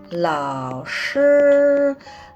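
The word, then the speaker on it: 老师: Hanse ini kita bacanya lao shi. Lao shi artinya guru. Ini lao, bacanya lao, lao, lao shi artinya guru. Jadi tidak ada perubahan nada, ini sama tetap dibaca L dalam bahasa Indonesia.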